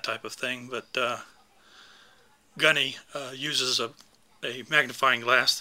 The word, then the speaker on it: Gaughknee: by the name of gunny and it's unusual spelling g-a-u-g-h-k-n-e-e pronounced like the the gunny from an NCO from the Marines and uh really a